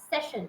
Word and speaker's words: session: what you are doing you are putting too much pressure on the first syllable session but it is session the first is very short session session perfect next.